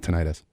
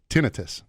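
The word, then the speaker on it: tinnitus: got tenus which is that's how you pronounce it by the way it's not ttis I already know that just letting you know I already know that it's tinitus I had to explain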